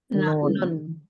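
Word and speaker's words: ن: Nun. Nun ya. Bukan nah, nun. Jadi kalau satu huruf itu diucapkannya seperti nama huruf hijaya.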